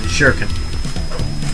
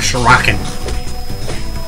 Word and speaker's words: shuriken: Right, shuriken. Not shuriken. Shuriken. Curse you, like, badly dubbed anime.